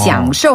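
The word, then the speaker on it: 享受: 享受 하면은 받다, 즐기다, 누리다 이런 뜻을 가지고 있어요. 그래서 한 번 더 享受. 享受.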